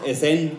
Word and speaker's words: Esen: Bueno, quien va a pasar a continuación, no sé, hace rato le pregunté cómo se pronuncia y es Esen, con acento en la segunda E.